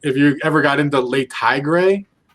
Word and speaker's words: Le Tigre: And if you ever got into Le Tigre, that's how you pronounce it.